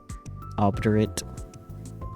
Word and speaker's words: obdurate: No long vowels here. So obdurate.